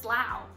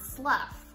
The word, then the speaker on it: Slough: see that word, slough, how do you know it's pronounced slough and not slough, like you're sloughing off dead skin cells?